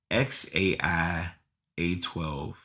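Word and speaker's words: X Æ A-12: letter X and then the a e is like pronounced Ash okay and then a12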